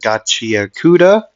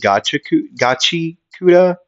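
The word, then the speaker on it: Gachiakuta: See, I get like I know how to say it correctly, Gachiakuda, but I like saying Gachikuda.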